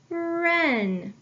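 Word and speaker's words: wren: like a ghost letter digraph WR I have wrist wrap Ren I need to underline my ghost letter digraph and cross out my ghost letter because it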